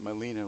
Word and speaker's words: Gmelina: time to realize that Molina was actually spelled with a G but the g is silent you don't pronounce it this tree has almost